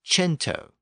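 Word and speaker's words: cento: word Kum meaning 100 that word became c n t o in Italian but it was pronounced chento with a CH sound also o think about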